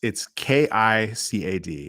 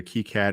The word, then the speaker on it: KiCad: It's KICAD. It's pronounced either KiCad or KiCad, but it's a free and open source, free to use tool for designing your own printed circuit boards.